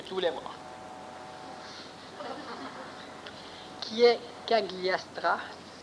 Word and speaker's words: Cagliostro: Qui est Cagliastra, ça se prononce comme ça, et oui.